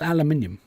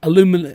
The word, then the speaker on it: aluminium: Or aluminum. It's aluminium. Do-do-do-do-do. Aluminium. Do-do-do-do. But then an American can say aluminum, doop doop doop, aluminum, doop doop doop. For song purposes, aluminum. For pronunciation, properly, aluminium.